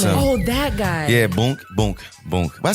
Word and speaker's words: Boonk: He's like it's Boonk. It's not Boink. Boink. That is. I said I told you I'm old. Yo, you are a fucking. How do you spell it? It's it's B. It's like Boon, but Boonk.